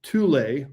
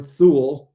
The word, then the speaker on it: Thule: And then I've identified a third location, another colony called Thule or Tool, depending how you pronounce it.